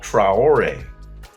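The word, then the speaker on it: Traoré: Uh, Nolan Trayor, Tuare, I'm not sure how you pronounce his last name. Trayore Trrowor, but he's one of the many guards drafted by Brooklyn.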